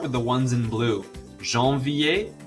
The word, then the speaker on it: janvier: Janvier, février, and juillet. All of those are pronounced like ier at the end and have a silent R and a silent T.